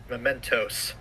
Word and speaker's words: Mementos: Mementos. Oh, whatever. I put the emphasis on the wrong... It's not a fizzy thing. Whatever. I put the emphasis on the wrong syllable.